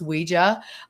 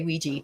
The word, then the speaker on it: Ouija: So, we know for a fact it should be pronounced Ouija, although people say ouiji.